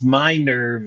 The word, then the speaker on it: Minerve: The French pronunciation is, I think, how you've done it, but it's Minerve is the way we pronounce it because Minerva was already taken, and but the French spelling of it, Minerve, is Minerve.